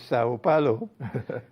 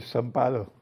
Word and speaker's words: São Paulo: It's interesting that you pronounce it as Sao Paulo, because they don't do that in Brazil. They call it São Paulo.